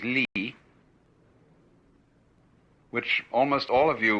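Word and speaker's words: 理: is r r is a Chinese character pronounced by the Chinese Lee which almost all of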